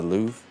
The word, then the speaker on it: Louvre: The Louvre? Is that how you say it? Louvre. How do you say it? Louvre. The Louvre. Louvre. It's French. The Louvre.